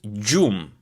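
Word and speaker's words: gjumë: So G plus J, in Albanian you're going to pronounce it this way. J, J, J. Like the word gjum, gjum, which means sleep in Albanian.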